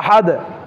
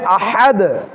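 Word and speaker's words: أحد: এখানেও আবার দাল যখন সাকিন হচ্ছে তখন দালটাকে কি করতে হবে? কলকলা করতে হবে। আবার এখানে আহাদ, হাদ, হা, হাটাকেও ভালোভাবে আমাদেরকে কেয়ারফুল সতর্কতার সহিত হা উচ্চারণ করতে হবে, তখন হবে আহাদ, আহাদ।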